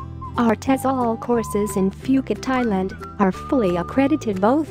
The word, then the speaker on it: Phuket: beautiful tropical island of phuket fortunately pronounced as phuket is frequently and justifiably